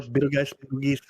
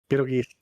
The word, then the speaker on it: Betelgeuse: The star Betelgeuse, or Betelgeuse, however you want to pronounce it. Everybody has a different way of pronouncing it. Betelgeuse is kind of the more common one. Betelgeuse is just the movie.